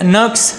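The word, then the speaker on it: Nurkse: इसका सिद्धांत professor Ragnar नक्स या रैगनर नक्से, इंग्लिश में इसका जो स्पेलिंग है उसको कहीं पे नक्स या कहीं पे नक्से प्रोनाउंस किया जाता है, रैगनर नक्से।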